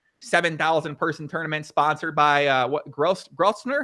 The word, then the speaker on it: Grosvenor: 7,000 person tournament sponsored by Grosvenor? How do you say that? Yeah, Grosvenor.